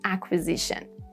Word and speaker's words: acquisition: And then Q, whether it's silent or not, is dependent on when you have CQ with K sound. Do you consider that K sound because of C or because of Q? If it's because of C, then yeah, Q is silent, like in acquire, acquaintance, and acquisition.